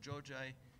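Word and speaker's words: Xhoxhaj: That case is known under the name, you have it here, Giorgi, this XH is pronounced, so Giorgi versus Albania, and the case has been decided in May 2021.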